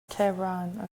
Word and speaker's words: Tehran: How do you pronounce it? Tehran.